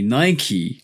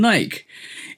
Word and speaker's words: Nike: But what you have to realize with the company Nike, and this is why I now call it Nike rather than Nike, is based on The Greek goddess god.